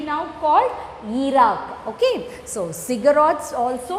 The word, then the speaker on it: ziggurats: Then the fortified Sumerian cities had the temples called ziggurats at its center.